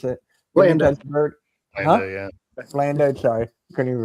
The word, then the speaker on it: Blanda: Brett Favre, Beyonda, George Beyonda, I think his name is. I can't pronounce it. Blanda.